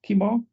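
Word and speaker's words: Qimir: our supplier kimar how do we say that's pronounced kimar come come here come here yeah who is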